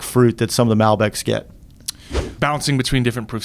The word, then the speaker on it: Malbec: Huge fan of Malbecs. Oops, sorry. You got your glass. Malbecs? What's the... Malbec. I mean, there's, both ways are acceptable to pronounce it.